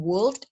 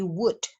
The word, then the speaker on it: would: Again, please pay attention because we also have L there, padahal L-nya lagi-lagi sama seperti could. Tadi dia tidak dibunyikan. Jadi bukan would, tapi would. Ya, I would arrange the appointment.